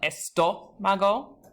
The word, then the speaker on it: estómago: So you have, for example, estómago. So you've got that spoken accent on the first O, and I'd advise you to try with músculo, médico, y capítulo.